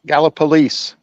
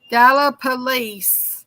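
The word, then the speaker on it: Gallipolis: weeks ago gallopolis yeah how do you say that gallopolis Gallup police Gallup police Gallop got a police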